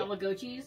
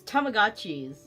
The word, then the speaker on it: Tamagotchi: Tomagois. I used to say tomagois, but it's Tammagotchis. I used to say tommo cheese.